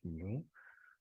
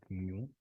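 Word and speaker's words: μ: in in in English this is in Greek letter so I know how to pronounce it and it's not m new but uh I think in in English you call it mu so mu it's um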